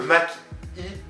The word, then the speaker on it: Mach-E: Il faut le prononcer à l'anglaise, hein, le Mach-E, donc Mach et I comme électrique.